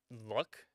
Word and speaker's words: Luc: Uh, Luck is their name. L U C, but it's pronounced Luck.